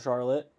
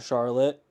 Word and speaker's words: Charlotte: that's spelled identical but we call it Charlotte it's charlot charlot in Vermont and a lot of